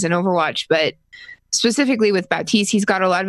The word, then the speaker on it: Baptiste: According to Papa Jeff, I believe it is pronounced Baptiste. Sure. It's spelled Baptiste. Just like Bridget or Brigitte.